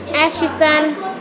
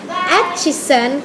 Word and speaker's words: Atchison: Precisely, I was born on July 24th, 1897 in Ashton. I'm so sorry, I said it wrong. I keep saying my birthplace wrong because I didn't have much education. You know that, right? It's Atchison, Kansas, where the best people stay, good cuisine